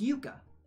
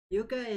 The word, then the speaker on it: Yuka: Is it J with a Y sound or a J sound? I have a Finnish, my boss is Finnish, actually, but I haven't really learned any Finnish myself or any of the pronunciation. It's Yuka. Okay. The Y sound.